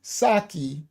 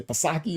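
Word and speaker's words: Psaki: It's pronounced Saki. Thank you. What did I say? Pasaki or something.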